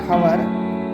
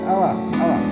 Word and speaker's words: hour: So the next, article an is also used before singular noun beginning with consonant and pronounced as vowel.